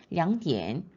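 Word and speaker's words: 两点: 그다음 두시라는 정각은 량디엔 삼성삼성입니다. 이성삼성으로 발음이 돼요. 양디엔.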